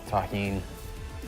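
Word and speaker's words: tahini: Shout out to everybody that knows the deliciousness of taheen. That's how you pronounce this.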